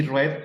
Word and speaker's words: read: verbo es presente y red es cuando el verbo está en pasado y se le da y tiene ese contexto Entonces el verbo read en pasado es red se escribe igual se produce distinto es muy batalloso si